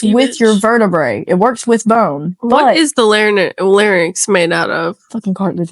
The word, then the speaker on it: larynx: What is the larynx made out of? Fucking cartilage, motherfucker. No, not lyrics. Lyrics. What are lyrics made out of? How am I saying it wrong? Larynx. Larynx.